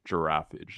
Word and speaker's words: Giraffage: sync which is Ryan Hemsworth and is it giraffage is that how it's pronounced yeah you could say giraffage I've I've I've gotten like Gir F and giraff but yeah generally giraffage is the uh okay correct way to say